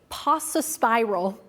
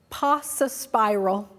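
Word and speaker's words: paucispiral: Pasa spiral. Pasa spiral.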